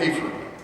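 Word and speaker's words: AAHPERD: You hear the teachers call it AFER. It isn't spelled that way, but that's how they say it.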